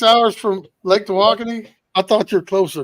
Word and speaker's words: Tawakoni: But it's pronounced Tawakoni.